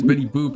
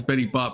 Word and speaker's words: Betty Boop: There's no way you pronounce Betty Boop as Betty Bop, but there's also no way Bennetty Boop was made in like the 70s.